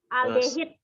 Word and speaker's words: aldehid: Alkohol, ether, terus alkehida, aldehid bacanya. aldehid.